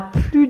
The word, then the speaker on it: plus: cette manière il a plus de temps il a plus de temps d'accord donc ici c'est une phrase négative et c'est pour ça que je ne prononce pas le S alors normalement pour la